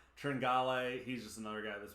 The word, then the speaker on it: Tringale: under own them tringale i found out how to say his name i heard that earlier on the thursday cast not tringail who knew tringale he's just another guy